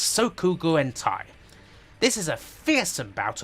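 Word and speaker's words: Sōkyūgurentai: western youtubers are guaranteed to screw up the pronunciation of it's sokugu and thai this is a fearsome bout of bullet hell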